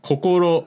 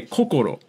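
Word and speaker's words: 心: accents so like the the way that you said like kokoro that's how they'd say it in tokyo in in kansai they'd actually say kokoro and they'd say it like high low low pretty much how you said it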